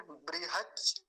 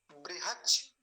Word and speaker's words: बृहच: एक सबसे काम की बात जो है वो ये है, बकार है ना कि वकार। ब का ध्यान रखेंगे, नहीं तो व बोलते हैं, व नहीं बोलेंगे, ब बोलेंगे। छोचा।